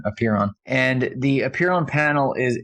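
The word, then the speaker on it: Apeiron: genomic company called apiron and that's spelled a p e i r o n appear on and the appear on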